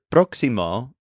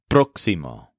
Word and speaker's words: próximo: say next week we say laima the word proximo is spelled p r x i m o with an accent over the O in the first syllable proximo for some reason this one tends to be